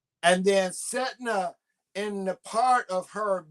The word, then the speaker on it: Sedna: But her name is spelled SEDNA. See the DNA. And then Setna, in the part of